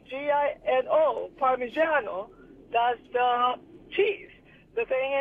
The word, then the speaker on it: Parmigiano: If you say Parmesan, then you write it with a G-I-N-O. Parmigiano. Parmigiano.